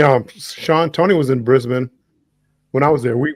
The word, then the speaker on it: Brisbane: of Aussie lessons Okay we don't pronounce the a it becomes an I so it's Brisbane okay Brisbane Melbourne Sydney